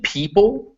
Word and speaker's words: people: which ironically is weird eo eo is a very rare is a very rare spelling you but you find it in two common words in people where it is pronounced e and leopard whereas pronounced e a leopard is a big cat